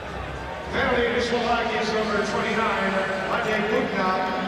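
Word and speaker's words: Matej: Penalty to Slovakia's number 29, Mate Bukna, 2 minutes for holding.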